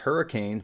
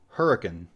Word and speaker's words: Hurricane: name in West Virginia looks like it might be pronounced hurricane but it's actually hurricane all right so what